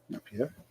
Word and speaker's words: Napier: Napier. That's how you pronounce it.